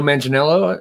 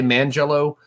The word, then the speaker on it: Manganiello: It's Joe Manganiello. Is that how you pronounce it? I always want to say Mangello, but that sounds really disturbing.